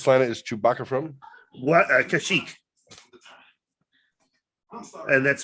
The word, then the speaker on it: Kashyyyk: Kashyyyk. And that's spelled wrong.